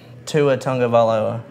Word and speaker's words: Tua Tagovailoa: Tua Tagovailoa. I don't think that's how you pronounce his name.